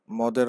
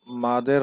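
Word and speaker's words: مد: চলুন শুরু করা যাক মাদের হরফের পরিচয় অনেকে মাদ বলে অনেকে মদ বলে আরবি উচ্চারণ হচ্ছে মাদ মাদ অর্থ টেনে পড়া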